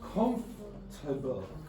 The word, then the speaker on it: comfortable: How do you say this word? Comfortable. That's not strong, so this is comfortable. So you lose sounds and you have the weakened form.